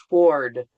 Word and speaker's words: toward: You actually pronounce the W. It's a little weird. Yeah. Toward.